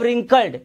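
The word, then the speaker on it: wrinkled: But suddenly मतलब होता है अचानक, लेकिन अचानक ही हिज फेस ग्रेव रिंकल्ड, यहां पे W साइलेंट है।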